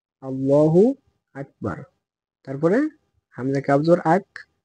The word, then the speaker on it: আল্লাহু আকবার: আল্লাহ হবে না আল্লাহু আল্লাহ হবে হাফেশ হু আল্লাহু আকবার তারপরে হামজা কাফ জর আক 12 জর 12